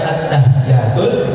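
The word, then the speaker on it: التحيات: Jadi ketika kita membaca at-tahiyyatul, ada penekanan di huruf ta, kemudian huruf ya.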